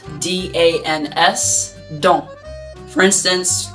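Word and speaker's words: dans: very very frequently is don't and that word is pronounced or spelled d-a-n-s don't for instance we're also not pronouncing the end uh which is the s we're just don't wait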